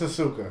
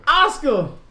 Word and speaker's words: Asuka: It's Asuka. Asuka. It's Asuka. The U is silent.